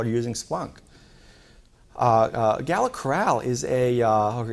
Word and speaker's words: Gala Coral: and more people are using Splunk uh uh Gala Coral is a uh Gala Coral is actually how they pronounce it um is a uh betting Service